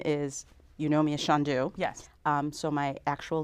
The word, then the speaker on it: Chandu: You know, they have that kind of lilting accent, and it was a soft C instead of the hard C. Yes. And so it just became Chandu, and that's how I've